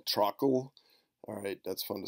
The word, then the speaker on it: Trakl: is not George this is Georg last name truckle alright that's fun to say with a K